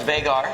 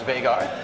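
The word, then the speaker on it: Vigar: r it is pronounced vagar I've heard many other pronunciations but it is Icelandic and it is pronounced vagar funny funny story about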